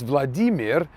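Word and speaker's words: Владимир: the middle of vladimir which in russian is pronounced vladimir it's over a thousand years old and therefore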